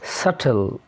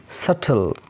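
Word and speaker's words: subtle: تاني حالة بيكون فيها حرف البي سايلنت لما يجي بعديه تي، زي ديت داوت ديت يعني دين داوت شك ساتل ساتل.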